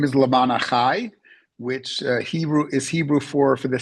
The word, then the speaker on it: Lema'an Achai: So pronounce the name of your social service charity again. Okay. The organization's name is Lema'an Achai, which is Hebrew for the sake of my brethren.